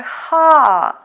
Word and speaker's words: х: And our last letter for today is letter ха. Ха. Ха, which sounds х.